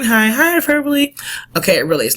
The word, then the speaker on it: hyperbole: as my husband says hyperbowl but do not say hyperbowl that's not how you say it is not hyperb is hyperbole you better not come to